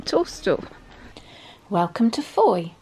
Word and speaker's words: Fowey: saying toaster welcome to Foy pronounced Foy to rhyme with joy the town is at